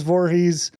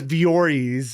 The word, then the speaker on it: Voorhees: like how Dan says Voorhees. Oh, wow. No, he said Wow, that's ironic. He said it correctly. Voorhees. He usually says Vories or Viorhees or some junk.